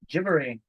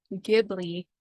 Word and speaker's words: Ghibli: probably butcher this, but it's Ghibli. Gibbery. Oh, so that's just the Japanese pronunciation of. That's the proper yeah. pronunciation. Because L's and R's don't really exist in that language. So it's like an in-between. Yeah, so Okay. Ghibli is like the Americanized version, but if you wanted